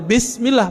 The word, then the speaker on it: Bismillah: Tetap bacanya Bismillah, bukan Bismillah.